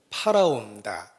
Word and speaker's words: 바로: 등장하는 모습을 보고 야 바로가 정말 오래 살았나 보다 라고 생각하는 것도 오해입니다 이집트 왕 을 일반적인 명칭으로 바로 라고 그럽니다 우리에게 익숙한 발음으로는 팔아 옵니다 이집트 왕 입니다 그래서 아